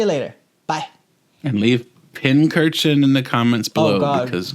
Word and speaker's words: Pincurchin: So it's pincurchin. Pincurchin.